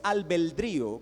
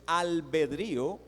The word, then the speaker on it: albedrío: comenzar definiendo algunos términos la palabra albedrío no es albeldrío como algunos pronuncian es albedrío significa voluntad es solamente